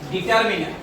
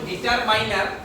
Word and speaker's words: determiner: এটা হলো ডিটারমিনার। একটা জিনিস মনে রাখিও, অনেকে স্টাইল করে উচ্চারণ করা দিয়া এটা কই ডিটারমাইনার, ডিটারমাইনার না, এটা হলো ডিটারমিনার, ডিটারমিনার।